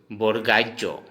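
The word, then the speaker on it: বৰগীয়া জ: ठीक है दोस्तों, अब जैसे ज, इस ज को हम असमिया में बोलेंगे बोरगाइजो।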